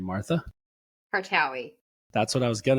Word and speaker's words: Kartaoui: Kartaoui.